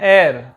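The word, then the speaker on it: heir: इसको कहते हैं एयर। ये क्या है, एच यहाँ पे साइलेंट है।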